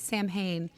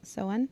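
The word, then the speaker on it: Samhuinn: also is it Sam huan or is it Sam Hayne also I think that I think it's Sam Huen I have my Kindle behind you if you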